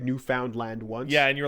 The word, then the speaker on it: Newfoundland: By the way, PS, Pat, it's Newfoundland, not Newf Found Land.